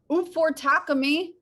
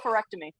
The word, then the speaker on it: oophorectomy: handwriting is extremely legible how's this pronounced oh oophorectomy correct me well if you think